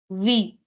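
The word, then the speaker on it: oui: you will say v v o UI V the spelling is O UI I've written it in the chat but you pronounce it as V we all ham V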